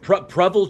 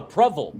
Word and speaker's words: Provel: Prevel cheese. Prevel cheese. Prevel. Prevel cheese. It's prel. It is 100% preval.